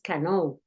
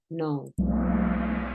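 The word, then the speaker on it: know: La K no suena, no dices cano, dices no.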